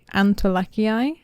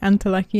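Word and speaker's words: antolakii: I do now realize that it's pronounced antilaki. So sorry for me keep saying antilucky in this video and it was indeed Rory Antilac who founded this plant in Panama originally.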